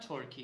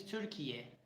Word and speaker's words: Türkiye: It is not Turkey, it is Türkiye. This is the original one.